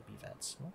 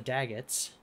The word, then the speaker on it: Daggetts: sorry it's the dag it's not the b-vets that sounds like a crappy boy band The daguets or the B vets they're gonna go sing now to be vets no anyway the daggets that's how you say it right daggets are hard